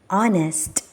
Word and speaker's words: honest: were so shall we read them our our honest honest so the first so second letter so